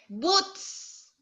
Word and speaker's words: boots: Boots. Boots. Oh, boots. Why boots? Boots. Boots. Boots. Boots. Very hard. Letter T. Boots. Again. Last one. Boots. Boots. Very good. Don't forget to pronounce letter T.